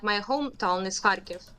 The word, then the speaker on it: Kharkiv: Yeah, are these like only happening like in the east in is it Kherson, or how do you pronounce this? You mean like my hometown is Kharkiv. Kharkiv.